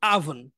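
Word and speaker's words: oven: এটাকে আমরা বলি কিন্তু এটা হচ্ছে আভেন আভেন মানে ও না বলে আ বলবেন আভেন বাংলায় হচ্ছে ওভেন আচ্ছা বাংলায় ওভেন বা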